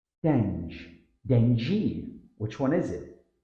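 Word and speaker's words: dengue: This word should sound like dengi. Common error, dengu. Tip, think of the word dingy and replace the I with an E sound, dengi.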